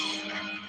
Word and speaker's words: Samek: Samek pronounced Somek.